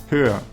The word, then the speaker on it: höher: In this case, we add an umlaut to the vowel in the comparative and change the double consonant ch to a more pronounceable h. The resulting comparative adjective, meaning taller or higher in English, is pronounced höher.